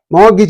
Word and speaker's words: mortgage: should be like this Mo morgage morgage morage means R is dropped and T is dropped two letters are dropped see the this is